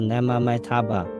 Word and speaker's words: Namo Amitabha: Namo Amitabha in Sanskrit is pronounced namomitaba which means paying homage to the infinite light.